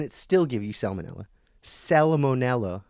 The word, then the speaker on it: Salmonella: Salmonella, I think is how it's correctly, the Latin pronunciation.